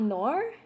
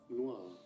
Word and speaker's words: noir: Is it not Nor? Always be saying words weird. How do you guys say Nor? Am I saying it wrong? Okay. Noir.